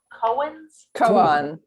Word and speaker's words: koans: oh has she okay all right but it's pronounced cohens it's how i learned how to pronounce it okay all right it's a japanese word right no one was cracking the koans no one was cracking the koans he had